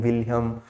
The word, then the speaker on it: Wilhelm: as wilhelm wundt okay your h is silent or you can pronounce like anything william or wilhelm who is father of